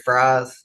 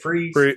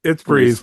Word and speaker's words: Fries: Jared Fries or Free, how does he say it? Freeze. It's Freeze. But we like to we like to we like to tick him off and say fries. It's spelled prize. Say fries.